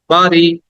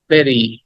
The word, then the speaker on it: bury: Okay, the next word is, আমরা এটাকে অনেকে বলি বিউটি, অনেকে বলি বাড়ি, কিন্তু উচ্চারণটা হবে ভেরি।